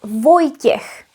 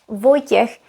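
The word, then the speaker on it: Vojtěch: v o j t s háčkem ch And the name that we got is Voy- tiech. Voy- tiech is a man's name.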